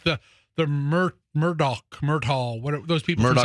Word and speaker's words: Murdaugh: He himself pronounced it Murdoch.